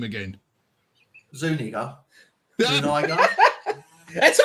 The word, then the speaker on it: Zuniga: Zuniga. Zuniga. That's how I said it. That's how it reads. Anyway, it's you say word. He said it with the soft A, not an ER. Yeah. Zuniga is how you're supposed to say that.